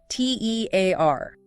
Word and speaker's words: tear: First, a rip in paper or fabric. Pronounced tear to rhyme with pear. There's a tear in my shirt. Tear. Pear. Like tearing paper. Second, the drop of water from your eye when crying. Pronounced tear to rhyme with near. A single tear rolled down her cheek. Tear. Near. Okay, these sound quite different.